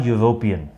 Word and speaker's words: European: Again, you, it has got a consonant sound, so we do not have to use an. We will pronounce it as, we will speak this sentence like he is a European.